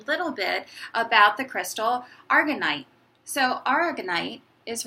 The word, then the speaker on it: aragonite: bit about the crystal argonite so our ignite is right here and sometimes people pronounce it arigon ight argonite so this beautiful beautiful